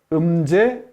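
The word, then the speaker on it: Mzee: 그리고 이 사람이 중요한데, 음제, 음이나 응은 앞에 n이 오면 응부터 발음을 하고요. m이 오면은 이라고 발음합니다. 예? 음제 조모 케냐타라는 사람이 있는데, 이 사람이 케냐 건국의 아버지라고 합니다.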